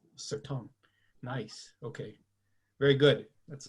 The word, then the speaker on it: Certain: but it's certain correct so it's french and it's not tom but it's certain sir tom nice okay very good